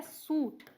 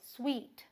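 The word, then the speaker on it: suite: क्या बोलते हैं लोग स्पेलिंग देख के लगता है यह है सूट लेकिन यह सूट नहीं है भाई ये है सूट क्या है स्वीट मिठाई वाला भी नहीं है बट इसे बोलेंगे स्वीट ध्यान रखें सूट चलिए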